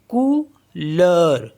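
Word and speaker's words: couleur: ई यू आर तो यहां पे हो गया कूलर कु लर एच ई यू आर ई तो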